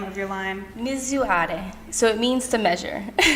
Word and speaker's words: Misurare: Which can you tell everyone how to pronounce the name of your line? Misurare.